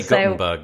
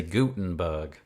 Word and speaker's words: Gutenberg: Yeah, I say Gutenberg, but if you're in America, you say Gutenberg.